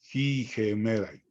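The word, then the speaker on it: ἡμέραι: Recuerden, tenemos aquí un diptongo y un espíritu rudo en la segunda vocal, entonces es no es jai, es gemerai.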